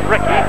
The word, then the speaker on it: Ricky: By the way, although it is spelt so it's pronounced Ricky, he assures me it's not, it's Ricky.